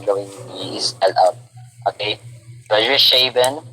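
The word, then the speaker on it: Zwischenscheiben: So, Swiss-Scheiben, dulo pag pronounce yan, Swiss-Scheiben. Parang Arnold Schwarzenegger lang yan siya.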